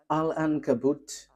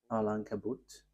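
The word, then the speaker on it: Al-Ankabut: Alan Kabut 27.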